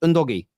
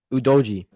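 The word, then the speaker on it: Udogie: the Midfield uh and is it pronounced undoggy udoji that's the one that's the one I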